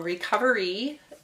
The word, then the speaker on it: Recovree: So Recovery is a great app that's... and it's spelled RECOVREE. Correct. Recovery. Yes. Without an E in there.